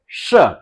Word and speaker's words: श: तो ऐसे ही हमारी जीभ को मुड़ते हुए तालू के पीछे वाले भाग को छूना है। तो कैसे बोलेंगे? श ऐसे अब देखिएगा अब यह